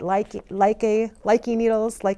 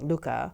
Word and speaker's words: Lykke: Like I said, most Americans are pronouncing it Lykke needles, but Mike Viking calls it Lykke. I think the rest of Denmark does as well.